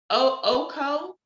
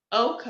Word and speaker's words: Ouko: Oko Otieno. It's pronounced, it's spelled Ouko. Oko. I hope I'm pronouncing that correctly.